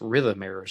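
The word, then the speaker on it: Rhythmaires: the rhythmers rhythm mayors r-h-y-t-h-m-a-i-r-e-s rhythm mirrors i think that would be the best way to pronounce it witnesses saw the two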